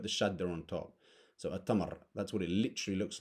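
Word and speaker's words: التمر: a pronunciation thing so it's not El Tamar it's atamar because this is a sun letter a shark again Sheen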